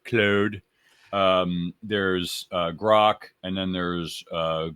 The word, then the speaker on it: Claude: There's Claude or Cloud, depending on if you're French or not. I know I'm not pronouncing it right. Claude.